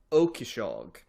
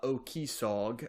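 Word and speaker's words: Ó Cíosóig: point to make sure that I got the pronunciation correct on this because it's a very Irish name it is column uh okishag uh sometimes uh okisog uh it's you know got a little bit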